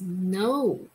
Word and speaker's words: know: 我很喜欢这个电视节目。有时候我们会去游乐园看一些大型的表演，或者是变装秀、玩偶秀、特技表演，你就可以说我去看了一场很精彩的秀。秀这个字在中文其实就是从英文 show show 这个字音译过来的。Another old phonics word is know, K-N-O-W. 这边的 K 不发音，所以我们把它念成 N, oh, no.